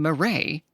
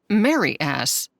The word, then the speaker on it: Marais: I took my best shot at saying Marais, and it came out sounding like Mary Ass.